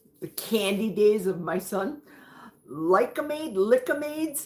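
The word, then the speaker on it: Lik-M-Aid: Correct pronunciation from the candy days of my son. Lickamades.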